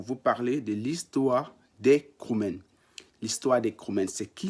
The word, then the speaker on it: Kroumen: Voilà pourquoi j'ai décidé de faire une vidéo pour vous parler de l'histoire des Kroumènes.